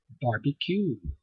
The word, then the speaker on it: barbecue: well most americans barbecue barbecue bbq pronounce you say it you pronounce them all the same bar b q bar b q bar